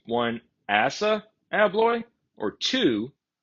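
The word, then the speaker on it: ASSA ABLOY: And I've actually heard stories of other locksmiths who just refuse to do anything with Asa Abloy.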